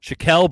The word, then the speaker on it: Shakel: on no okay uh shakel brown shackel brown shael shael brown would be the correct way to pronounce it I should have more